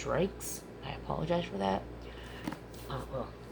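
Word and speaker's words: Reichs: been pronouncing her last name wrong I've been pronouncing it as raes and it's reikes I apologize for that well there's an older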